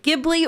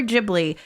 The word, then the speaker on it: Ghibli: aware that there's some discourse about whether it's pronounced gibli or jibli because even though the name originated from the